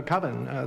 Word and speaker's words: coven: is coven coven uh coven that's the proper pronunciation I know coven sounds like Oven Man and that's just